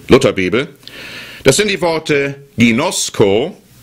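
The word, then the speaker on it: γινώσκω: das sind die Worte ginosco und euda genosco das schreibt man g i n o s K und euda schreibt man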